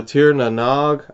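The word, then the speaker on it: Tír na nÓg: This is a Battle Soul with a Tir na Nog, I believe is how you pronounce that.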